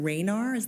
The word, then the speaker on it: Raynar: And while this is coming up, Mayor, it's an email exchange between Jason Raynar, am I pronouncing that correctly? Yes, you are.